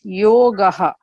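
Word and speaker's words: योगः: The vowel preceding that will decide how to pronounce, like yogaha, Y-O-G-A-H, yogaha. Okay, so bhakti yogaha. And you find this very commonly in all the shlokas. So that is, you have to pronounce it as yogaha.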